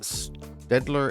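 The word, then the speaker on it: Staedtler: Um I've got my I think you pronounce it Staedler S T A E D T L E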